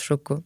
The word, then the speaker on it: Xoco: Et je travaille avec un agriculteur qui est situé au Honduras, dont la société s'appelle Xoco, mais ça se prononce Choco, parce que c'est à l'hispanique.